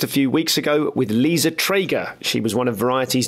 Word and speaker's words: Liza Treyger: So, I saw you, for the record, could you please pronounce your name? Yeah, it's Liza Treyger.